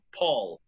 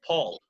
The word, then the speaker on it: Paul: how do you see Paul in English you spell it the same as in Spanish but how do you say it in English Paul Paul Paul McCartney so that's right Paul very good very good and another thing the